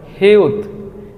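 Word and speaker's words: 히읗: তারপর আমরা যেই বর্ণটি দেখতে পাচ্ছি এটাকে কোরিয়ানরা বলে হিউত। হিউত হিউত, এটা মূল উচ্চারণ হ।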